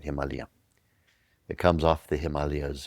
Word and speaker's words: Himalaya: It's just comes straight off the Himalayas. In India they don't say Himalaya, they say Himalaya. It's the proper way of pronouncing it. Himalayia.